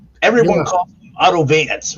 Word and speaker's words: Wanz: his name is spelled wanz yeah but it's pronounced everyone calls Auto Vance right yeah the Vu as they call it